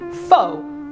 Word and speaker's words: pho: and how to eat fax or how you should say it f f if you're having a hard time remembering that I don't blame you it's spelled p h o and we're actually using